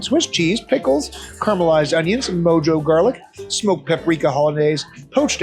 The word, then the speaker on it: mojo: It's mojo. You're right, it is mojo. In Spanish, the J is pronounced like an H.